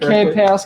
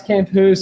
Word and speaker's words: Camphuis: Myself, Stevan, and of course Zac, the ever beautiful Zac Camphuis. Zac, pronounced Camphuis, Camphuis.